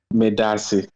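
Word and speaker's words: Medaase: Medasi. Madasi.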